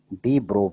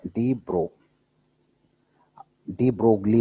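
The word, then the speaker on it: de Broglie: Matter waves का दूसरा नाम था, इसको बोला गया डी ब्रो waves. डी ब्रोगली बोलते हैं ना, ब्रोगली बोले, लेकिन एल इसमें साइलेंट रहता है तो इसको बोलते हैं डी ब्रो वेव्स।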